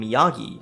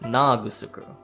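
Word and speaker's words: 宮城: This name, the very common Miyagi on the mainland, was pronounced Naagusuku.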